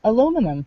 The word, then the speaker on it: aluminum: pronounce it aluminium we spell it aluminum and pronounce it Al a essential element is aluminum not aluminium well it's it's either two separate